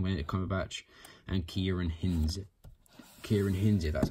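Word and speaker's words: Ciarán Hinds: Kieran Hinze, that's how you say it.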